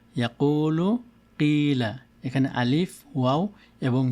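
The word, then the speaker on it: يقول: তারপরে এটি ইয়াকুলু, এখানে দাম্মার সাথে ওয়াও এসেছে, ইয়াকুলু। আর এটিতে হলো কাসরার সাথে ইয়া এসেছে এখানে, তো এটিকে পড়ব কিলা, কিলা।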